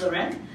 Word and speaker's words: Larene: wave seen it and it's pronounced low-rent the reason why I